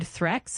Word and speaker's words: threats: The word threx is pronounced with a clear TH sound at the beginning. So it's like threx.